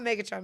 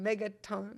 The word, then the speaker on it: Megaton: Not Megatron, Megaton.